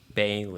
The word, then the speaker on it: Bailee: Bailee.